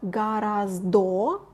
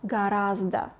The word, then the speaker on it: гораздо: Notice that we spell гораздо, but pronounce гораздо, because the last O is not under stress. That's why it's pronounced like A, even though we spell it like O.